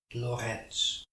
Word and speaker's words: Lorentz: hendrick anton loretz he's dutch that's why i'm pronouncing his name in dutch hendrik anton lorenz and this level is